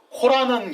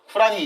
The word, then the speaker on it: 쿠란: 일단 코란은 영어식 발음이에요. 쿠란이 이제 정확한 아랍식 발음인데, 쿠란은 이슬람의 경전입니다.